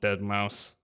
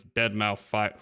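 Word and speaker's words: deadmau5: Keep wanting to call him Dead Mouse, which some people do, but apparently the correct pronunciation is dead mouth five.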